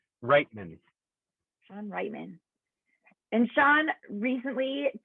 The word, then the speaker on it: Reitman: Reitman.